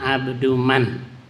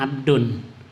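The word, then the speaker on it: عبد من: Ana, kata Sayyidina Ali, ana abduman alamani harfan wahida. Jadi bacanya ana abduman. Aku berapa kali dengar orang ceramah ana abdun. Ya kalau itu mudhaf itu dibuang tanwin, abduman. Jangan abdun man, ada artinya.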